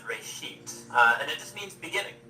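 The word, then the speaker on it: בראשית: from a Hebrew word it's pronounced Ray sheet and it just means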